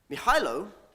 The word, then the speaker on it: Mihailo: Mihailo, and I did check the pronunciation of that one, is a 25-year-old recent